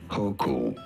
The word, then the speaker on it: Hochul: We are looking at how to pronounce these names as well as how to say more interesting and often mispronounced names from US politics. Kathy Hochul.